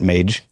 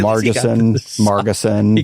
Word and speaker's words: Margeson: So it's a soft G on that end.